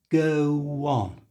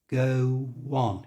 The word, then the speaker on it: go on: in a natural way we put a little W sound between the go and the on listen carefully go on go on can you hear that little W sound go on so the whole thing